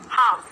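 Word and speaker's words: half: आगे देख लेते हैं, हाफ, हाफ, हाफ, ठीक है। हैवी मत बोल देना, हालवी मत बोल देना। इसकी प्रोनाउंसिएशन क्या है, इसको प्रोनाउंस कैसे करना है, हाफ, हाफ बोलो, हाफ, हाफ मतलब आधा करना,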